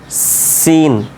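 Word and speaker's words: س: উচ্চারণ সদ সিন যা এই তিনটা উচ্চারণ এক জায়গা থেকে থেকে হয় ঠিক আছে কোথা থেকে হবে খেয়াল করবেন সদ সিন ঝা আপনার যে এব্রো থেব্রো জায়গা রয়েছে দাঁতের ঘোড়ার অংশে ও জায়গাতে জিহ্বাটা গিয়ে ঠেকবে ঠিক আছে দেখেন সদ সিন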